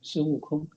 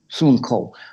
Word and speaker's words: Sun Wukong: Sun Wukong. Sun Wukong.